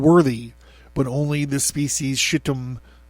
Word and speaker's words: Shittim: Nay, not even the 7 most excellent among them were found worthy, but only the species shittim. It's Shittim. I'm trying to find a way to pronounce it that doesn't sound like shittim, okay?